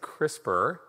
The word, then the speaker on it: CRISPR: once and then i'm just going to say crispr it's like the crisper drawer in your refrigerator that's how you pronounce it all right so um